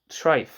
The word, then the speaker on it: treif: Food that may not be consumed, however, is deemed treif, T-R-E-I-F, also spelled T-R-Y-F.